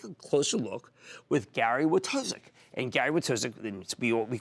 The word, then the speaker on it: Wojtaszek: It's Gary Wojtaszek, Gary Wojtaszek. I said, let's just get it right. Just learn how to pronounce it as well.